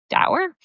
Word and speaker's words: Doerr: Dower.